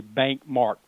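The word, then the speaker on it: BancMarc: I call it bank. My corporate name is Bank. We're not regulated like a bank, but I spell it capital B-A-N-C, capital M-A-R-C, Bank Mark.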